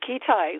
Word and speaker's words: Kitei: That is me, and you just pronounced it correctly, Kitei, like a key and a tie.